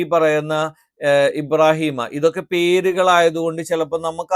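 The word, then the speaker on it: إِبْرَاهِيمَ: എന്ന് പറഞ്ഞു നിർത്താൻ പറ്റില്ല സ്ഹഫ ഇബ്രാഹീമൂസ സ്വഹഫി ഇബ്രാഹിമ ഇബ്രാഹിം എന്ന് പറയാൻ പറ്റില്ല ഇബ്രാഹീമ ഇബ്രാഹീമ മൂസ ഇവിടെ നിങ്ങൾക്ക് റ എന്ന്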